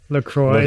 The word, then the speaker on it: LaCroix: Yeah, like St. Croix. And Interesting. Oh, interesting. But also the owner of LaCroix said it's LaCroix.